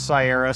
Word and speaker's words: Cyera: we definitively agree that we pronounce Sierra Sierra I've heard people say Sierra enough times I think everybody says say I accept the monk